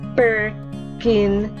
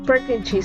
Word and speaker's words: Purkinje: the cerebellum, is known as the Purkinje, commonly pronounced as Purkinje cell or Purkinje cell.